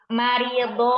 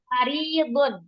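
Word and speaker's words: مريض: Marido apa maridun? Sakit itu maridun. Nah, maridun. Nah, tadi bacanya fathah.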